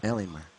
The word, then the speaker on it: Alienware: the way finish sign Alienware Alienware okay there we go pronunciation helps indeed there's an r in there randomly it was kind of